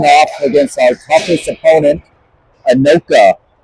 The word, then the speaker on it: Anoka: against our toughest opponent, Anoka. I think I got the pronunciation right correct. Anoka. Anoka? I believe. Not Akron. Not Akron. Not Anoki.